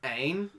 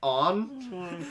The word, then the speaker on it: Aang: It was like instead of Aang, it's like On.